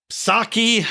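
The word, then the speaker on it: Psaki: that and uh jen saki i'm just gonna call her sake i'm not gonna pronounce the p like uh pterodactyl chensake is out there saying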